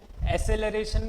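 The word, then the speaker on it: acceleration: एक्सेलरेशन, अब देखो इसका प्रोनाउंसिएशन क्या होता है, एक्सेलरेशन को एसेलरेशन भी बोलते हैं, ठीक है? आई बात समझ में? तो आपको जो बोलना है बोलो, ठीक है? मुझे जो प्रोनाउंसिएशन रटा हुआ है वो क्या है, एक्सेलरेशन, ठीक है? आपको एसेलरेशन सही लगता है वो बोल लो, ठीक है? ये अलग अलग एक्सेंट की बात है ना?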